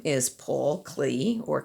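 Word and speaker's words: Klee: going to show you his name is paul clee or clay some people say his name that way and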